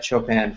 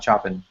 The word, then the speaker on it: Chopin: to check out uh set chopan free not chopping chopan all right thank you